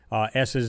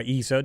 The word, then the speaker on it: ESA: And basically, they're all at Mars with either some kind of lander, ESA there, or ESA, depending on how you want to pronounce it, the European Space Agency.